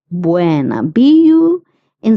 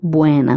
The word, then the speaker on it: bueno: Bueno. Many people have the tendency of pronouncing bu u e as bui. Bui. Okay. But it's not bui. It is bueno.